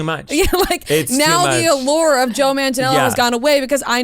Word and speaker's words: Manganiello: Or no, Joe Manganiello. That's how you pronounce his name.